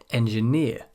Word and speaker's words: engineer: Some suffixes are always stressed as the final syllable in a word. These ones here, for example, with the suffix EER. Engineer, mountaineer, auctioneer, profiteer, pioneer, puppeteer.